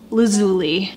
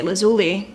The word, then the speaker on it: Lazuli: to make number one it's pronounced lazuli guys I have been struggling in my own brain with this brand name when I first heard this brand my mind just wanted to say lazuli I'm Italian I went